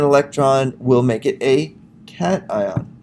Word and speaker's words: cation: Remember, it's pronounced cation, not cation. It's pronounced cation.